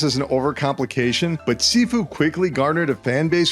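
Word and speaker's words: Sifu: of many Mysteries including how to pronounce its title it's sefue by the way I looked it up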